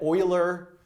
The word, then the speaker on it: Euler: Euler's formant formula and Euler is the correct pronunciation of that right not Euler as one might think yeah Simon that's